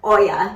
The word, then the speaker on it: olla: going to make an Oya that is spelled o-l-l-a oh yeah and it is Spanish for pot simply pot but this